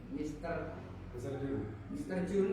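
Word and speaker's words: Mr. Junee: Tapi ejaannya Mr. Jun ya. Juni panggilannya. Tapi di akhirnya Mr. Jun, makanya ketika kita melihat ada E-nya ya kan, tapi itu E-nya nggak dibaca.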